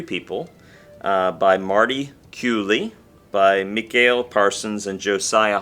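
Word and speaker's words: Culy: His last name, if you didn't know how it was pronounced, you might think it was pronounced Cully, but he's from Canada, and it's French-Canadian pronunciation Cooley.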